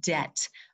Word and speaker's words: debt: say it again student debt okay that'd be in debt is silent we don't pronounce that B and so as you